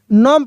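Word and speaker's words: gnome: यहां पे क्या साइलेंट है? जी। जी को नहीं पढ़ेंगे। नोम पढ़ेंगे।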